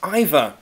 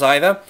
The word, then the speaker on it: either: um John Smith pronounce either two ways to pronounce either either either either either either either both are okay there's no correct answer really the same with